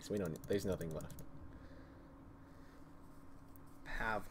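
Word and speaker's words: Pavle: don't there's nothing left pav like his name said pav but it's spelled pavl wait wait it's really pav that's how I've always thought it was no it's pavl to me now pavl let's dress what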